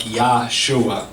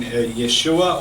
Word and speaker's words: Yeshua: something to that how the way the Hebrew works as well you don't pronounce it like Yahshua it just doesn't work